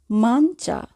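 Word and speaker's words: mancia: এখানে যদি আমরা মাঞ্চা বানানটির দিকে খেয়াল করি তাহলে সবার শেষে দেখব চি ই আ। চি ই আয়ের উচ্চারণ চায়ের মতো করে হবে, অর্থাৎ আমরা বলবো মানচা। Menu, menu.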